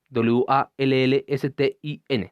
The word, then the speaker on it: Waldstein: Waldstein es Wallstin. Se parece mucho. O sea, Waldstein a Wallstein. O sea, cambia la D por una LE.